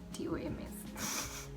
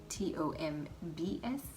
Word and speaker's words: tomb: Butter makes toms, T-O-M-S. Toms or Tom is one of the two. But T-O-M-B-S is tomb, not Tom.